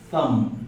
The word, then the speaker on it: thumb: You read as thumb. Only ma. Do you stop at ma? You don't pronounce the B. The B is silent.